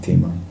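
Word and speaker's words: demon: 디몬이라고 읽더라고. 읽어보니까 디몬. 아니면 이거 이제 악한 영이라고 써 있습니다.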